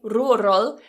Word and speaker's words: rural: want to do that divide the word into two syllables Rua uh mind the vowel Rua roll roll now that L at the end is what's called a dark L this appears after vowel